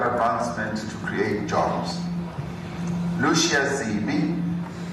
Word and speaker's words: Zibi: Lucia Zibi says, and it's spelled Z-I-B-I, that's Zibi.